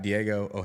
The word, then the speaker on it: Diego Ojeda: co-host of opinionated media cam Theory we got Diego OA is that how you pronounce it yes sir all righty so we